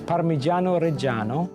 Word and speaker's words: Parmigiano Reggiano: It's Parmigiano Reggiano. Reggiano, not Reggiano. Reggiano. Reggiano. I mean, this is considered the main premier Italian grating cheese. But what makes this so special? Well, Parmigiano Reggiano is produced in an area near Bologna, which